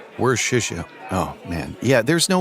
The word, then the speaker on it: Worcestershire: Like easier than pronouncing Worcester. Nope, Worcester. Huh, Worcestershire. Worcestershire.